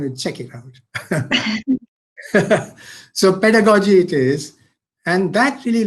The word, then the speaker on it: pedagogy: know how to pronounce i think you pronounce it pedagogy or pedagogy you'll have to correct me whichever way i would go i think i would go with goji as in logi and okay so it's pedagogy technology i i that